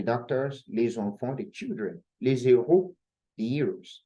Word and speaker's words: les héros: important to note that we cannot even say les héros, we say les héros. Why? Because héros is hash aspirate, okay? It is hard. So it is pronounced just like we did for the singular, le héros. And the same thing for the plural, les héros, okay? So it is forbidden to say les héros, very forbidden.